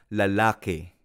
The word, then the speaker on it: lalaki: En Filipino, la palabra lalaki también se pronuncia lalake. Lalake. Hay algunas palabras en Filipino que termina en i, pero cuando pronunciamos se convierte en el sonido e. Por ejemplo, lalaki a veces se convierte en lalake.